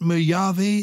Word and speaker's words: Mojave: Is it Mojave? Is that how you pronounce the name of the desert? Yes, I think so, because it's from Spanish.